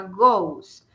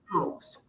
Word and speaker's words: goes: es el verbo ir como terminan o en tercera persona sería goes pero se pronuncia gos vamos a la diapositiva anterior Bueno a unas diapositivas anteriores en donde se ve reflejado eso acá miren si ve el verbo Go que es el verbo ver en este caso la variación es agregar es porque terminan o gos se pronuncia como con una u gos listo entonces a esos